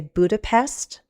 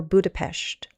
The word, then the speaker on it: Budapest: So, it is recognized in American English dictionaries that we can say Budapest or Budapest.